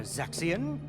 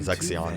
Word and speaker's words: Zexion: is going on here zexion I want an explanation I always called him sexy on to your song probably